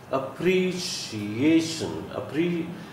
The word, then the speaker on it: appreciation: Appreciation. The stress is laid on this syllable, A. This third syllable here.